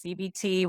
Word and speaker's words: CBT: I always say CBT, but I always have to say it's CBT with a T, not a D.